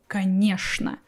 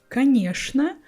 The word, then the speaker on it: конечно: So for me, only these two words, что and конечно, will be pronounced with sh sound.